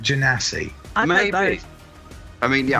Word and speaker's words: genasi: I was wanting to say gunasi, but I'm thinking it's genasi. So I don't know if we're going to get into I don't know if the chat is going to go wild over my pronunciation of this race, but I'm going to go with genasi.